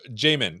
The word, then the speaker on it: Jamin: don't you introduce yourself we'll start with you Jamin did I say it right you did and